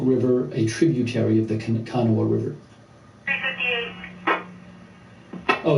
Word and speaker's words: Kanawha: The Kanawha River is how you pronounce it.